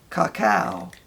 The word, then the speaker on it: cacao: and in that is the cacao. Is the way I understand it's supposed to be pronounced when I looked it up.